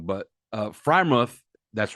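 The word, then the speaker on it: Freiermuth: good wide receiver I always pronounce this guy's name wrong but uh freimuth that's right yeah is at least top five-ish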